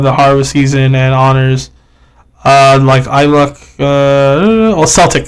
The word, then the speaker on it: Celtic: harvest season and honors Celtic. It's Celtic. Celtic. Oh, Celtic, my bad. Yeah, Celtic. Celtics is the Boston basketball. Yeah, the team. It's spelled the same. In my defense, it's spelled the same way.